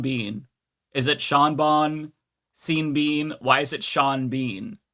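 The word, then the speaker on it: Sean Bean: You can have Shawn Bon or seen Bean. You don't get to have Shawn Bean.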